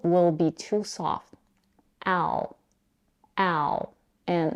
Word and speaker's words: Al: the vowel the manale's name Al is pronounced with the same vowel that we have in the words cat and apple to pronounce it we